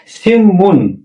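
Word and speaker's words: 신문: সঙ্গে যদি নিয়ম হয় তাহলে এই নিচের নিয়নটা মতে উচ্চারণ হবে তারানে দুটোই ম উচ্চারণ হবে সিমুন আর কোরিয় ভাষায় সিমুন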